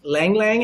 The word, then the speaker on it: ylang ylang: okay air currents I want vanilla and sweetest ylang ylang how do you pronounce that word right you did it okay